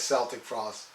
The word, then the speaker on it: Celtic Frost: call it celtic frost i saw tom g warrior in an interview pronounced it as celtic frost and let me tell